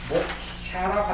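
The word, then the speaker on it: mokṣa: S 밑에 점에가 들어 있습니다. 그래서 뭐 인쇄가 잘못된 것이 아니고 복사가 잘못된 것도 아니고 S 밑에 점 들어가 있습니다. 그래서 읽을 때는 이제 인도식 발음으로서는 목샤라고 합니다.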